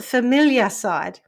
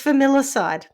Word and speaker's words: familicide: Because they're familiar, it's the familiar side. Yeah. Yes. Yeah. Okay, so criminologists have been conducting increasing research into the phenomenon of familicide and in the process